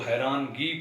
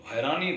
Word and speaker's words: حیرانی: پرخچے پڑھا جاتا ہے۔ اسی طرح حیرانی لفظ ہے جس کو حیرانگی پڑھا جاتا ہے، تو حیرانی درست تلفظ ہے، حیرانگی غلط تلفظ